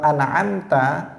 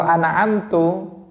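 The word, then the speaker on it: أَنْعَمْتَ: Nah, ini juga berubah total, karena dalam bahasa Arab kalau an'amta itu artinya engkau memberi nikmat. Kalau an'amtu artinya dia mengatakan aku yang memberi nikmat.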